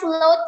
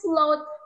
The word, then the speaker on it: float: beri Taipei Mbak toppingnya flute ya soalnya Kau sering banget Tak asing banget mungkin mereka banyaknya itu flute ya Kak Eh Kak beliin ya Thai tea itunya flute gitu Padahal bacanya itu Float boat itu apa sih